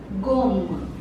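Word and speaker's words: gomme: the letter j j the first word is gum g g means an eraser G here the last e is silent second word is for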